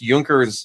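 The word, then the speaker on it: Junkers: researching that very specific I think it's pronounced juncker's bomber that the the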